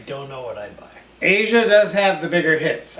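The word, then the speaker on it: Aja: their greatest hits yes our mother owned Asia we didn't we didn't know that for a long I always thought it was AA yeah as I still want to call it AA cuz you Asia was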